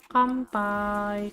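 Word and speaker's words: 乾杯: dan yang terakhir ada kanpai ada bersulang pantai Bidi bacanya Kampai Kampai karena ada huruf t h e high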